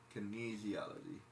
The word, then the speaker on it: kinesiology: Kinesiology. Sneeziology. Say sneezy, like sneezy, like I'm sneezy. Sneeziology.